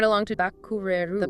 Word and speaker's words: バックれる: Moving right along to Bakureru. The pronunciation guide is Bakureru.